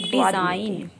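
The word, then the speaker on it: design: इस तरह के सभी वर्ड्स में जो जी साउंड लेटर है वो हमारा साइलेंट है। डिजाइन मीन्स होता है नमूना, मलाइन मीन्स होता है बदनाम करना, और बिनाइन मीन्स होता है दयालु। इसका मतलब है जब भी हमारा जी के बाद में एन आता है तो वहाँ पर जी का साउंड साइलेंट होता है और एन का साउंड लिया जाता है।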